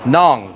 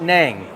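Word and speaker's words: Nẵng: Nong. N. Like, so not nang. Nang. Nong. Yeah. Yeah. Yeah. Rhymes with Hong Kong.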